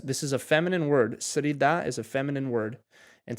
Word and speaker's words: Среда: Srida.